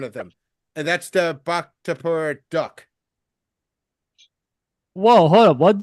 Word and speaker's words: Bhaktapur: every single one of them, and that's the bak tapur duck. Whoa, hold up. What duck? It's a bak tapur duck. It's spelled BHAKTAPUR.